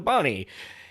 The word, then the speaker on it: Bonnie: over and over again, we just called it the Bonnie, and it rhymes with Lonnie.